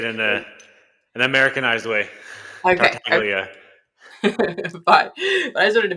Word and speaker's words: Tartaglia: Yeah, my last name is Tartaglia.